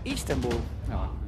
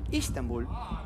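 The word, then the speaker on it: İstanbul: beirut o rabat Estambul Estambul que en el idioma Turco se pronuncia istanbul istanbul tengo entendido me lo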